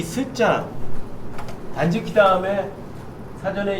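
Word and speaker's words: 断食: 어떤 분은 단쇼크 그러세요. 예, 쇼크잉이 음식이거든요. 그러니까 그때 이 쇼크가 아니라 그냥 지키예요. 단지키.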